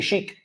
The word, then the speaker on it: chic: Algo cuando es chic, los franceses dicen algo es très chic. We say chic. Chic Lo también. decimos como a la SH, francesa.